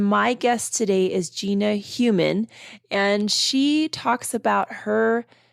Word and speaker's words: Heumann: Heumann, okay. On my podcast today. That's the actual German pronunciation. I am German. I'm from Germany. So well, you got it right, but we not go for Heumann.